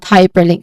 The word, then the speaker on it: hyperlink: So we start with high. The syllable is high. There's a clear diphthong here. I diphthong. So AI, that's I diphthong. So this is high. And then followed by per with a schwa sound.